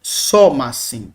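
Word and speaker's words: σώμασιν: E eu tenho um somacin, somacin. Perfeitamente, o acento continua na antepenúltima sílaba.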